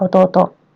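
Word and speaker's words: 弟: Onyominya atau cara baca Cinanya adalah tei dan dai. Untuk kunyomi, dia adalah ototo.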